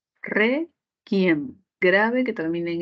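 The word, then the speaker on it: réquiem: Requiem, grave que termina en M.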